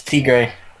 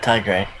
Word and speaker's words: Tigre: crazy grey tiger uno it's t-grey it's not it's not thai grey the white guy hispanic stop being a strike and pronounce his name correctly crazy steve versus manic